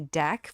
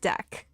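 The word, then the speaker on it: deque: So that actually makes sense why it would be deck versus D E Q U E U E. Okay. So we're talking about two different things. So, I'm talking about a deck which is double-ended Q. I'm not talking about DQing an item in an array. Google says it's pronounced deck.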